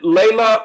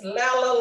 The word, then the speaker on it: Lela: Is it Layla or is it Leja? It's Lela, like Della and Stella, my sisters, Lela.